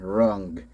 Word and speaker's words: Rung: So here we got the Minicons Lionizer and Rung. Rhymes with Grug.